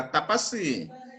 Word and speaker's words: तपस्वी: मुस्कान तपसी नहीं है, तपसी पढ़ोगे तो साथ पे बड़ी मात्रा होगा तपस्वी।